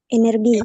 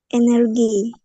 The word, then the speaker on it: energy: Energi. Energi. Ami. Guess it first. Can you repeat? Energy. Ah, be careful. The pronunciation in English is energy.